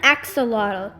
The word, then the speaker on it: axolotl: climbs and other good things to eat dear axolotl why do the feathers growing out of your